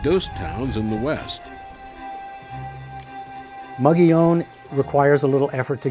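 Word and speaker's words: Mogollon: The problem with Mugion and it incidentally is named for a Spanish governor from the 1700s and pronounced Mugion.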